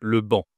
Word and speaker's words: banc: Alors là, c'est la réponse, c'est le banc. Je ne dois pas prononcer le C.